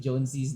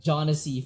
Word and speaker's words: Jonesy: I've been calling him like Jonassy for the past how many seasons, and it was only now that you corrected me. I mean, I feel. How do you count that Jonassy, or how do you pronounce it? I mean, I guess like it depends on like where from the Anglo-speaking world you're from, but Jonesy is like that's how I would immediately pronounce that.